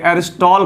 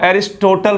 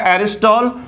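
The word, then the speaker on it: Aristotle: बहुत सारे बच्चे ऐसे हैं जो इसको एरिस्टोटल पढ़ता है। मेरे भाई ये जो टी है वो साइलेंट रहता है, तो जब वो टी साइलेंट रहेगा तो इसका प्रोनाउंसिएशन क्या होगा? उच्चारण एरिस्टॉल होना चाहिए। आप क्या पढ़ते हैं? एरिस्टोटल। बिल्कुल गलत है।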